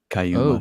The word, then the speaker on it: Kaituma: Yeah, Cayuma, yeah. Oh, didn't know it's a weird thing to do with a T, but okay.